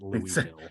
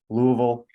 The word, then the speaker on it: Louisville: So, I'm losing the E in Louisville, Louisville.